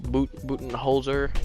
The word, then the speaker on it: Budenholzer: Mike Budenholzer, that's how you say his name, is coach of the year.